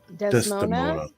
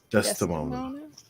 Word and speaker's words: Desdemona: One of the worst things I can do is say the name wrong. Desmona? Desdemona.